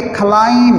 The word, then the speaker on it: climb: हाँ, ये क्लाइम नहीं पढ़ेंगे, क्लाइम, CLIMB, एम और बी जहाँ इकट्ठे आ जाएं वहाँ बी साइलेंट होता है, बी लिखा जाता है लेकिन पढ़ा नहीं जाता, जैसे कम होता है,